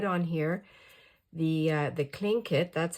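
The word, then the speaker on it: Tlingit: then I put on here the uh the clink kit that's how you pronounce it clink kit and they are PE it means people of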